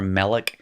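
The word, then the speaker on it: מלך: by giving like this remember how way back when i introduced segalitz and i told you that sagalets are one-syllable words pretending to be two syllable syllables it's really monk but they wanted to be two syllables just like all their friends and so they pretended and they were melik but the accent stayed on the front end so you actually knew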